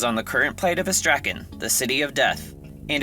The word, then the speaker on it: Istrakan: But more academically, in English, we usually pronounce words with an emphasis of stress on just one syllable.